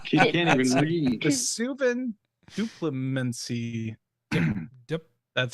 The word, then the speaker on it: Duplimancy: It's gonna be enchantment called Vesuvian Diplomat. Did you give me this one? What? She can't even read. Vesuvian Duplimancy.